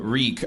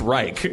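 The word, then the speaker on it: Rieck: german their last name my mom's maiden name is uh reek r-i-e-c-k but it used to be pronounced reich but and they made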